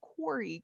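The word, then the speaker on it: quori: i missed that what is that how you say it quarry q-u-o-r-i uh it's a it's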